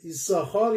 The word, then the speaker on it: יששכר: و در تنخوما میگه میدراش که ایساخار یعنی یش ساخار، یوتسین ساخار، بنابراین دو تا شین میاد. پس اگه دو تا شین میاد چرا یکیش رو تلفظ نمی کنیم؟